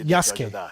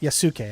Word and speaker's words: Yasuke: are most impressive so you pronounce his name Yas not yasuke I always did the I always put the U in there but this is the